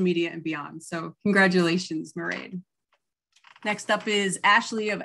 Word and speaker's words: Mairead: And we have Mairead, rhymes with parade, from Harlow Creative.